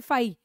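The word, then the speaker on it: φ: एंड इसका example देख लो, जैसे ये बोलेंगे हम फाई, इसको प्रोनाउंस करते हैं फाई, इसको लिखते हैं इस तरह से बच्चों, देखो फाई, 5 into 174 bacteriophage.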